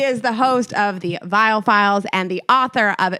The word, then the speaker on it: Viall: Please welcome to the show, Nick Viall. Ladies, so good to be with you. Back again. You know, it took too long. It's Viall.